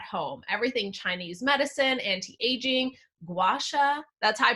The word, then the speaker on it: Gua Sha: is self-care at home everything Chinese medicine anti-aging gwasha that's I pronounced it right right rollers and we are